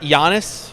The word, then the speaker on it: Giannis: went with Maro gianis Giannis as they say Yannis ymo how many times am I going to mispronounce that jannis acmo an TMO ISO um